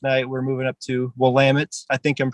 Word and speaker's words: Willamette: Then the next night we're moving up to Willamette. I think I'm pronouncing that correctly.